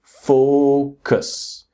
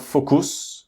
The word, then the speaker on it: focus: The next word is focus. So the strong syllable is the first syllable. It's not focus or focus or something like that. Focus.